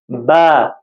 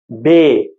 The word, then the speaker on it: ب: خاص خیال رکھیں آپ۔ با، بے، اسی طرح سے تا، تے، تو یہ خیال رکھیں آپ، کیونکہ مجہول آواز جو ہے وہ یہ والی ہے اور معروف جو ہے وہ یہ والی آواز ہے، تو یہ والی آواز سے آپ نے نہیں پڑھنا ہے۔ تو با، اسی طرح